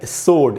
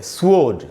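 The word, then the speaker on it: sword: लें, तो वो है सोड। इसका जो प्रोनाउंसिएशन है दोस्तों वो है सोड। इसको कई बार लोग ऐसे पढ़ते हैं स्वोर्ड, स्वोर्ड नहीं होगा दोस्तों, सो और ड, सोड ऐसे पढ़ना है इसको।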